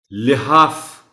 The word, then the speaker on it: لحاف: لحاف، لام کے نیچے زیر کا خیال رکھا جانا چاہیے.